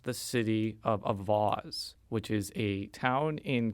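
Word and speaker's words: Auxvasse: A Twitter user named John Flavin and State Representative Travis Fitzwater both told me that I had pronounced it Oxvass, which is incorrect.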